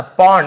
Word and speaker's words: pond: वॉज यानी था, a little एक छोटा सा, पॉन्ड इसे पाउंड नहीं बोलेंगे, पॉन्ड यानी होता है तालाब, सरोवर को पॉन्ड कहा जाता है।